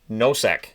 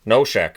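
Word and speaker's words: Nosek: Although it's been Noac or Noshack. I've heard it both ways. In Vegas, it was Nok. Now he's back to Noshack, it seems. But either way, whatever you pronounce it as.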